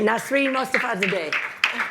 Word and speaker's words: Nasrin Mostafazadeh: And Nasrin Mostafazadeh, and please correct my pronunciation of your last name. Perfectly fine.